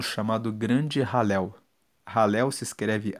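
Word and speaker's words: Hallel: Esses cinco salmos formam o chamado grande ralel. Ralel se escreve H a L l e l e significa louvar a Deus.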